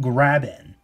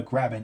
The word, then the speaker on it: graben: So you have, it's kind of a weird name, but this is called Mugen Graben. Now, the Graben not as in grabbing stuff, but There's actually a geological term for, graben, which is spelled G-R-A-B-E-N.